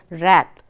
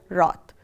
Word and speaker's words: wrath: The first word is wrath. Some people also pronounce it as wrath. So, I would like to pronounce it as wrath.